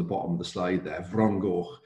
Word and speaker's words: Fron Goch: name, which is called Fron Goch, which you can see on the bottom of the slide there, Fron Goch. It's spelled with an F, but an F in our language is a V sound.